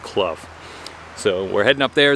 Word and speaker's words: Clough: seen on the internet that it is actually pronounced club so we're heading up there it's about 5.1